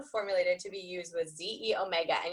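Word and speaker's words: xEO Mega: to be used with ze Omega and you're going to see that with an X but it is it's really like a Greek numeral so it's it's pronounced ze Omega and Microflex vmz and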